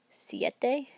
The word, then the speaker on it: siete: Siete, we can hear the I first.